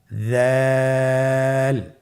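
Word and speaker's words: ذال: দাল হরফটিও বারিক হরফ। উচ্চারণ করার সময় অবশ্যই তিন আলিফ টেনে পড়তে হবে। জালের মাখরাজ হলো জিহ্বার আগা। সামনের উপরের দুই দাঁতের আগার সঙ্গে লাগিয়ে উচ্চারিত হয়।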